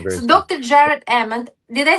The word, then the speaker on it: Ament: Jared Ament, did I say it correctly?